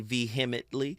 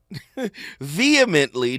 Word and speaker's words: vehemently: I don't hate people, but I vehemently Why do people say veheimitly? It's vehement vehemently dislike people who act like that. I hear people say that word all the time. They say it wrong. Veheimitly. No, it's vehemently.